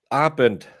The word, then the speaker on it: Abend: Abend. There's a B. Abend.